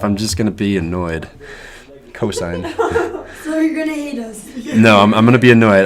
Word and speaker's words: cosine: classic cosine I know you write it down coasts but you verbally say cosine it just irks me